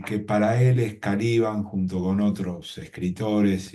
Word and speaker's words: Caliban: Porque muchos dicen que, él dice que muchos lo pronunciaban Calibán y que para él es Caliban junto con otros escritores y pensadores, porque viene